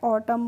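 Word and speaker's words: autumn: आप देख सकते हैं तो यहां पर जो एन होता है उसका हम प्रोनंसिएशन यानी कि उच्चारण नहीं करते इसको पढ़ते हैं ऑटम और ऑटम की हिंदी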